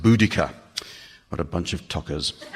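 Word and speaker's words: Boudicca: She's been known as Bodisier. Uh but a group of Cambridge linguists recently insisted from a study of protoeltic languages that bodisier must be pronounced budika.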